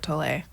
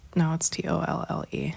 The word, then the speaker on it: Tolle: Eckhart Tolle. And I know that name. like when I started reading that book when I was 17 or 18 years old. I've been saying Toll this whole time.